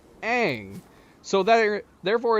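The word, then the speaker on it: Aang: That if if you were going to be named a A N G, it probably would regularly be pronounced, but the character and the creators said it's pronounced Ang.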